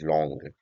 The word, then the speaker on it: langue: कि एक स्पीकर एक लैंग्वेज के हवाले से सीखता है। सो बेसिकली ये जो लॉन्ग है दैट इज एब्स्ट्रैक्ट, जिसको लैंग भी पढ़ा जाता है but correct pronunciation is लॉन्ग।